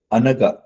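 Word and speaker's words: Anagha: raised the hand okay let me go the anaga A N A GHA if I'm pronouncing it correct yes you are sir okay so um can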